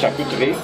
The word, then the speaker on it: charcuterie: It's pronounced charcuterie.